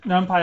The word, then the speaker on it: NumPy: So another thing that NumPy allows you to do, or NumPy or NumPy, depending on how you want to pronounce it, is that it has these sophisticated broadcasting functions.